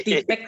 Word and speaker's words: TPACK: Tipek bacanya Pak.